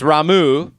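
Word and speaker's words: Ramuh: It's Ramu, according to Japan. And this one is not a pronunciation controversy, just Crusader is obviously Crusader.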